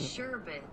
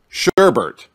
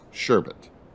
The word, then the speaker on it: sherbet: Sherbet. All right. So now we're going to go ahead and practice. But I'm going to say it wrong first. Sherbert.